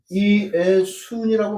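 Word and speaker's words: Ἰησοῦν: 그럼 이걸 어떻게 발음을 하냐면 이것은 이의수 이렇게 발음을 하고 이것은 이에수 이렇게 발음을 하고 이것은 이에순이라고 발음을 해요.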